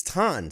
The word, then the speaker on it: Thon: And he wrote, it's like John, but with a TH.